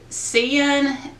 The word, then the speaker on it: Seinen: But I know one, I think it's called, and I'll put the names on because I know I'm going to mispronounce them. I think it's Seinen, S-E-I-N-E-N.